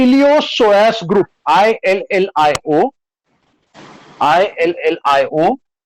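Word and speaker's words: iliopsoas: Hip flexors में जिसको, इसको हिप फ्लेक्सर्स को और एक नाम है, इसको बोलते हैं इलियोसोएस group, ILLIO, ILLIO, PSOAS, P again silent है इधर, ILLIO, PSOAS, इलियोसोएस ग्रुप।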